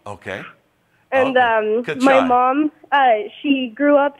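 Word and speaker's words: cachai: Well, you pronounced it right the first time. You say kachai. Okay. And kachai.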